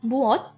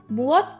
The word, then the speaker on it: 무엇: This word, this single syllable word, it is pronounced as mo. इसका romanization क्या है? MWO. Alright? Mo. Mo and muot, they both mean what in Korean.